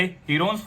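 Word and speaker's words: Heron's: सबसे पहले हीरोन्स formula की मदद से हम इस ट्रायंगल का एरिया फाइंड आउट कर लेंगे। हीरोन्स फॉर्मूला आपका चैप्टर 9 है क्लास 9th का, जिसकी एक्चुअल प्रोनाउंसिएशन है हिरंज फॉर्मूला।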